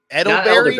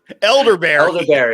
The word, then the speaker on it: elderberry: Oh, Edelberry? I don't think you said that right, Dundee. How do you say that? Elderberry. Oh, elderberry. Yeah.